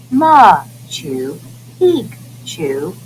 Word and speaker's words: Machu Picchu: was a royal estate machu picchu pronounced ma to peak to was a city that